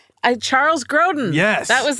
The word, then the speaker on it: Grodin: Last name rhymes with Hoden. Charles Grodin.